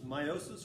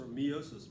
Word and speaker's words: meiosis: working on mitosis versus meiosis or meosis both are okay pronunciations when we're looking at